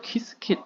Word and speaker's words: Qiskit: 키스킷, QISKIT인데 발음을 공식으로 키스킷을 하라고 공식 사이트에 있었어요.